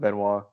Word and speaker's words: Benoit: the next day, they like you found out Benoit double murder suicide, yeah, that's how you say it.